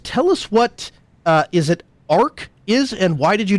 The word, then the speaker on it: aerc: Tell us what is it Arc is, and why did you decide to develop software like this? Yeah, it's pronounced Arc.